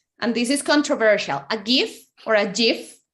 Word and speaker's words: GIF: Or GIF if you want to, or whatever way you want to say it, but it's GIF. You see, always learning.